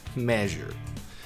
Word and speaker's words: measure: Você está numa reunião, você fala, we have to measure, né? Se você é no banheiro, pode ir, fica à vontade. Não. Precisamos medir. Então é measure.